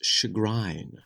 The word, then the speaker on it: chagrin: Oh, Nick, in England, it's chagrin. Oh, is it? The E is pronounced there? The E is violent. The E is, there's just an E there.